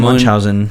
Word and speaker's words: Munchausen: do you know how to pronounce that? Baron Munchausen.